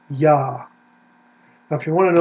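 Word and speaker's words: יָהּ: So this very clearly is a long A vowel. It is the same vowel, if we go back here, as we have at the end of Adonai, right here. It gets put into the four consonants. It is A vowel, Ah.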